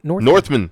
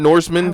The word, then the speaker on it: The Northman: Northman, not Norseman, because I'm going to say it wrong.